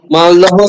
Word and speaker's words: মালদহ: যেখানে মালদহ থেকে মালদা।